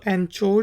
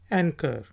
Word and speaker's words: anchor: पहला वर्ड है ANCHOR। तो इसको एंचोर नहीं कहेंगे, बल्कि ये है एंकर।